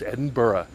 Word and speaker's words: Edinburgh: let's say it together it's not Edinburgh it's Edinburgh it's not Edinburgh it's Edinburgh it's not Melbourne